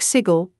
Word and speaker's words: Sigil: in Ian remember burfoot it's pronounced like sigle rhymes with Giggle and W be the Burke who mistakenly mispronounces it in front of the gers welcome to sigil city of doors most